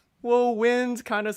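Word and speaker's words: Nguyen: so i'm like whoa wind kind of sounds like or my last name is win n-g-y-e-n people always mispronounce it which is cool it's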